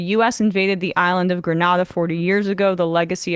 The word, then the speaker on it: Grenada: ready to invade Grenada, pronounced Grenada like Grenada and not Grenada.